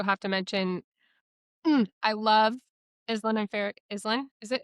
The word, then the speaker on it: Islan: So in my mind, it's Eastland, but I do not care.